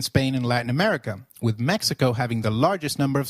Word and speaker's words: Mexico: at them in detail did you notice that the X in Mexicano is pronounced as h while X is usually pronounced as X in flexible it is pronounced as a throaty h in the words Mexico Mexicano and Oaxaca which is a state